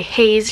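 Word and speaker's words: Heize: also I'm sad then I have Heisey she's fine I'm sorry haze she's fine I always mispronounce that this album is huge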